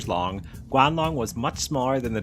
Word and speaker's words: Guanlong: So, I'm going to now tell you all about the Guanlong and then I will see you all in the next one. Guanl Long, pronounced Guan Long, was a small therapod dinosaur